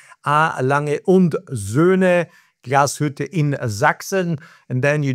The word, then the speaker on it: Lange und Söhne Glashütte: I pronounce it for you correctly. Lange und Söhne Glashütte in Sachsen.